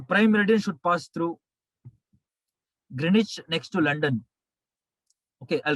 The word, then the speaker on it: Greenwich: green h w silent greenwich next to london uk uk it is pronounced as grenache in uk english uk english greenwich w silent w silent please sponsor us greenwich